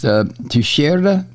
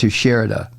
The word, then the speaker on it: Teixeira: all these military Secrets I think his name is pronounced to shirda to shirda I think it's Portuguese name or Spanish name i I don't know but I believe it's pronounced to sherida um he's 21 years